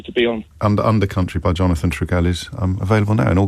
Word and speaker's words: Jonathan Trigell: It's Jonathan Trigell. Is that pronounced correctly?